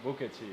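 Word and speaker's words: 不客气: Bukechi, yeah.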